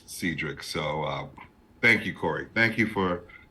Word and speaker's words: Cedric: name my name is spelled like Cedric but pronounced Cedric so uh thank you Corey thank you for